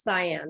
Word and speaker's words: Sian: again exactly cyan i kind of like cheyenne but it's cyan right can we okay fine oh yeah i hope the connection works and so what's your question cyan and i love you